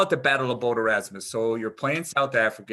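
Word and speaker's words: Boet Erasmus: It's the Battle of Boot Amaris. Close, Boot Erasmus. Boot Erasmus. Boot is Boot.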